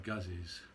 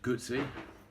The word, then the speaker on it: Guzzi: appreciate that moto Guzzi's I'll pronounce good Z as in pizza as I've seen loads and loads of comments people seem to take great offense to the fact that we mispronounce it but in England people say Guzzi so when in Rome